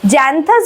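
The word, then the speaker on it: Xanthias: term slave যার নাম হচ্ছে জ্যান্থাস ঠিক আছে জ্যান্থাস বা জ্যান্থিয়াস যেভাবে ইচ্ছা উচ্চারণ করতে পারো তো জ্যান্থিয়াসকে তিনি জানান ডায়ানিশাস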